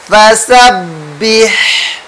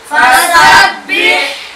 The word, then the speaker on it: فسبح: فسبح بحمد ربك واستغفر فسبح فسبح فسبح فسبح এখানে হা গলার মাছ থেকে উচ্চারণ হবে কারণ এটা হলো বড় হা এটা কি হা বড় হা فسبح فسبح بحمد بحمد